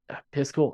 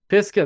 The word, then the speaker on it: Pisgah: I think you had mentioned Piscal. I always feel like I mispronounce it. Pisgah, there we go. I always want to add an L on the end of it. I don't know why.